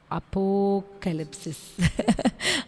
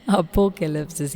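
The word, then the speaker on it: ἀποκάλυψις: நம்ம ஆல்ரெடி உங்களுக்கு அந்த டைட்டில் அதை கரெக்டாக ப்ரொனவுன்ஸ் பண்ணுறதுக்கு தான் என்னுடைய கணவர் தான் எனக்கு அதுக்கு உதவி செஞ்சாங்க. அப்போகலிப்சிஸ். அப்போகலிப்சிஸ்.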